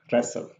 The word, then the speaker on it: wrestle: The same as here, wrestle. So the T here is silent.